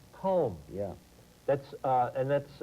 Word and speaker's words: Colm: hold your thought uh c-o-l-m but pronounced calm calm yeah that's uh and